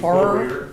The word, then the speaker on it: Bohrer: How do you say your last name? Bohrer, Oh, Burr.